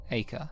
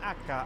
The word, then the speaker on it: Acre: and capture of acre it is pronounced acre right remove this stain from akka Altair oh akka I've been here in a car since the Crusaders were laying Siege ah I've always called it acre so I'm just going